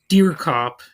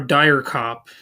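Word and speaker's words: Charles Dierkop: who played him it's Charles dear cop or dire cop however that's pronounced is d i e r KO op and I think that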